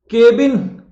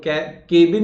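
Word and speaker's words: cabin: चलिए अगला शब्द देखिए कौन सा आ रहा है, केबिन। यही तो बोलते हैं ना, मेरे केबिन में पहुंचो तुम, तो केबिन नहीं होता, कैबिन होता है, कैबिन।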